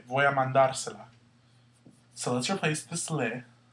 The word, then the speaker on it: mandársela: to sound the same, our accent is going to go where you hear the stress. Mandar. Because when you add all this other stuff, it just means... all you really have to know is how do you say this word without this stuff? Mandar. And wherever you hear the stress, that's where your accent goes.